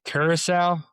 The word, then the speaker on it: Curaçao: Yeah, it's uh Curaçao.